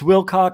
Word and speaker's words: Wilcock: Take it into consideration and say it properly. David Cock. Oh, it's Wilcock.